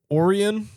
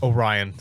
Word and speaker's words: Orion: Oran Orion. Orion.